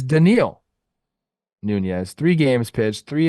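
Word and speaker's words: Dedniel: pitched in three games three oh denil denil thank you the pronunciation key is right there I am very sorry it's like Elliot for Ramos it's yeah you got to know you if you don't know you don't know it's denil Nunes three games pitched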